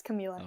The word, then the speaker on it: Kamila: absolutely thank you so much uh do you pronounce it Camila yeah it's Camila okay all right I apologize for I I